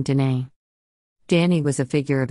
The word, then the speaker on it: Danae: Pronounced Danae or Danae, English, Danae, Latin, and Danae, modern Greek.